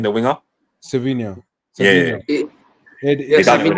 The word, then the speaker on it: Savinho: Silvino. How'd you say his name? The winger? Savinho.